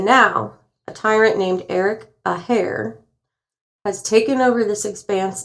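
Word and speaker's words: Athair: But now, a tyrant named Eric Aair has taken over this expanse of I'm sorry. How do you spell that? You don't want to know. Okay. It's a hair, not O'Hare.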